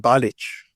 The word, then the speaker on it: Balich: B come from so balich is my mother's maiden name and is my middle name how' you pronounce it balich bich so this should have an accent on it in the Yugoslav CH